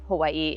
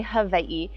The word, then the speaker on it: Hawaii: It's Hawaii if you are pronouncing it the American way, but traditionally Hawaii.